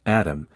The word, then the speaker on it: ATMM: atmm at eurosatory 2020 the ATM pronounced atom can be connected to